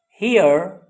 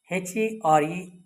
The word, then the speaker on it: here: you are good students h e r e is pronounced here and h e r is her.